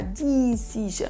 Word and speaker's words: decision: Decision, c'est pas decision ou decision, c'est vraiment 2 i courts accentués donc sur la deuxième syllabe.